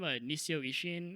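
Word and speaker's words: Nisio Isin: Nisio Ishin, I think. Yep. That's how you pronounce it.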